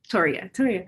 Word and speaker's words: Toria: Is it Toria? Yeah, like Victoria without the bit.